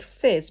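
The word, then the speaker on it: Phiz: Then there's this one called Fizz, but it's spelled P-H-I-Z, and that is it does look a bit more like a goldy black.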